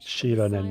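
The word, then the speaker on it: Xilonen: Currently, Shilonen of the Children of Echoes, Kinich, Shilonen, that's how you say it.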